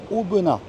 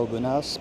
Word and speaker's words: Aubenas: retour en Ardèche à auena attention de bien prononcer Auen et pas auenas pas de s à la fin on ne prononce pas le S c'est jour de marché